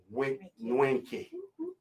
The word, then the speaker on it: Nweke: indeed, via the Yaggah Movement Radiocast, Sister Nwenke.